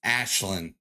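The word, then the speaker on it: Aisling: Can't trust the Irish with spelling, but for the record, it's pronounced Ashlyn.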